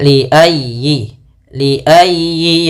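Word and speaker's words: لِأَيِّ: Kemudian li ayyi yaumin ujjilat. Li ayyi yaumin ujjilat. Nah, pada lafal ya tekan ya-nya. Li ayyi, jangan dibaca li ayyi atau li ayyi. Jangan. Tapi li ayyi yaumin.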